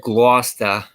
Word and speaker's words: Gloucester: Someone said Gloucester.